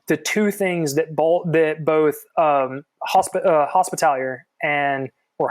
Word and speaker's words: Hospitaller: I'm pretty sure that that's the wrong pronunciation of that, but it sounds better to me than Hospitaller.